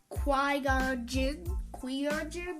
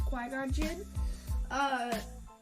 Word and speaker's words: Qui-Gon Jinn: he was Jedi apprentice, called a Padawan, to Qui-Gon Jinn, not exactly sure how to pronounce that, but I'm pretty sure it's Qui-Gon Jinn.